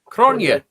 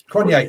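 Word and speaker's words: Cronje: tweet from ap uh i'm gonna say his name wrong uh ap crunchy c-r-o-n-j-e from south africa cronier kanye thank you hear it me um so what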